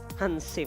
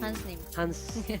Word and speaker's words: Hansnim: Bacanya Hansnim atau Hansim? Hansim. Hansnim. Hansnim ya. Hansnim, yes. Bukan Hansip ya. Bukan juga anonim.